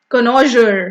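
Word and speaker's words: connoisseur: उठा के ले गया कनोजर बच्चे अब इसका प्रोनाउंसिएशन अच्छे से समझ लो मैं दो बारी बोलती हूं कनोजर कनोजर ठीक है यहां लिखा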